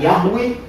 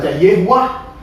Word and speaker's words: Yahweh: Kadang dibaca Yahweh, kadang dibaca Yehuwa, kadang dibaca Yehuwa. Kenapa? Karena ini isinya konsonan. Jadi gini nih, YHWH. Ini nggak ada vokalnya.